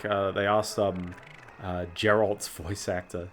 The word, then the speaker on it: Geralt: I remember there was one clip I saw somewhere which was like, they asked Geralt's voice actor. Geralt, or was it Geralt? It was a hard G.